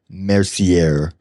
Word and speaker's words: Mercier: Mercier. How do you spell it for him?